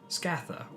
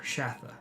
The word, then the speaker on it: Scatha: indicated by descriptions of scatha or shatter the pronunciation is disputed in the works okay the first winged